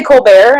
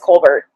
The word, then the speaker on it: Colbert: I always want to say Colbert. It's spelled like Stephen Colbert, but I think it's Colbert.